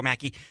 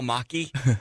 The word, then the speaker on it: Machi: as well done which is also Joe Mackey spelled em achi hmm not spelled like wacky yeah neither of those